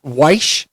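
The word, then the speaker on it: Wyche: So his coach named Sam Weish, I believe is how you pronounce it.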